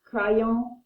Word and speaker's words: crayon: We just wrote how to pronounce crayon, cry and you own it, so I'm not going to rewrite it.